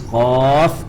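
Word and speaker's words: قاف: The proper way of pronunciation is Qaf and Kaf, because the end of it has Fa. You have the huruf Fa at the end of the spelling.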